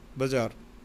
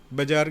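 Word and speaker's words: bazaar: बाज़ार original, the real pronunciation of this word is बाज़ार. इट इज़ an English word, not Hindi. बाज़ार बाज़ार बाज़ार जो कहते हैं, बाज़ार नहीं है, बाज़ार.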